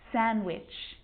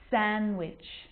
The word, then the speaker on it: sandwich: silent too wednesday handsome sandwich so i'm not pronouncing the d in i'm just pronouncing the consonant n sound before it try it with me one more time wednesday handsome sandwich and a d can